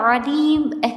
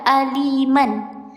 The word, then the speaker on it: alim: Dibaca alim, tidak dibaca aliman.